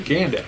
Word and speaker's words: Gandalf: It's just Gandalf. That's Gandalf. Let us know what how you pronounce it.